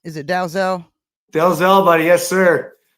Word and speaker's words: Dalzell: Dalzell, buddy. Yes, sir. I like to pronounce all the letters. Apparently, it was a Scottish name, and some Okay. pronounced it Dazzle, Oh, Dazzle?